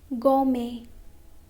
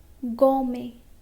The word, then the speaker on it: gourmet: Now letter T is also silent in some of the French words ending in et. Okay? For example, ballet, ballet, buffet, buffet, gourmet, gourmet.